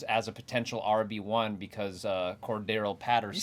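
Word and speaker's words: Cordarrelle Patterson: He now steps in as a potential RB1 because Cordero Patterson.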